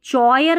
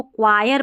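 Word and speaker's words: choir: अब इसको भी देखिए चयर नहीं पढ़ना है। इसको क्वायर पढ़ना है।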